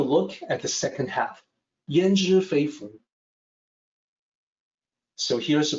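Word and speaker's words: 焉知非福: Then let's take a look at the second half, Yan Zhi Fei Fu. So here's the pronunciation. It's more like an E sound here instead of yan. It's yan, Yan Zhi Fei Fu.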